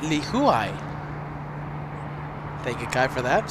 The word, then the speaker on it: Lihue: few moments Kai and Lihue Li Hui okay that's I I usually pronounce Lihue Lihue now I will be pronouncing it Lee Hui thank you guy for